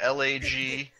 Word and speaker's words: Lagdush: Doug, did you say his name is Lagdouche? Yeah, Lagdush. Okay.